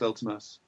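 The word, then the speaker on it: Vltimas: Wait, isn't it it's spelled with a V? No. Yeah, it is, but it's pronounced Ultimas.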